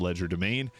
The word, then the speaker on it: Legerdemain: And then at level 3, this is when we get our Arcane Trickster and the Mage Hand Legerdemain, which is a French word. English people can pronounce it Legerdemain.